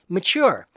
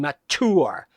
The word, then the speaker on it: mature: as long as you don't pronounce with a hard t as in mature then it sounds like madonna trying to do shakespeare please don't make us